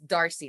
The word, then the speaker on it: Darcy: then um and obviously i said the name wrong it's darcy not marcy god um darcy and